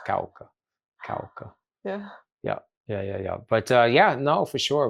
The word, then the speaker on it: Cauca: And I'm sure I still pronounce it with an American accent, but yes, it's Cauca.